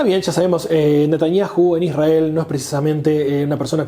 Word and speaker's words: Israel: podría llegar a tener Israel, o Israel, como hay que pronunciarlo correctamente.